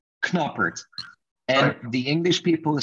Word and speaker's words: Knoppert: in english you're asking a dutch dude who pronounced his name with a k knoppert and the english people